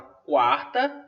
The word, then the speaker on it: quarta: tudo uma sílaba só mesmo que na palavra quarta você tem ditou o que o é pronunciado na palavra quinta você tem um big Hero porque o olho não é pronunciado Tá mas nunca se